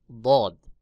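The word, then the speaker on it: ضاد: এরপর রয়েছে বদ। জিহ্বার গোড়ার কিনারা উপরের মাড়ির দাঁতের গোড়ার সঙ্গে লাগাইয়া বদ উচ্চারণ হবে, যেমন বদ বদ বদ।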